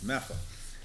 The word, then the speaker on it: Medford: near there in Medford it really is pronounced differently slurred together as well as Medford where I live which is metha so anyway that's not